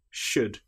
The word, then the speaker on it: should: Another time when the letter L is not pronounced is when we have the letters U, L, D. For example, the word would, could, should. In these cases, again, the L is completely silent.